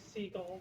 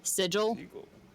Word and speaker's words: sigil: a problem yep seagull oh that sounds like seagull but sigil do you mean sigil